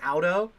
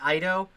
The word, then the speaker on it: Ido: I voice acted the ice vampire Audo, or Ido. It's basically the Japanese pronunciation of idol.